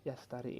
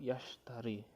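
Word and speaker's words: يشتري: Seharusnya yastari ini menggunakan shin, yaitu yashtari.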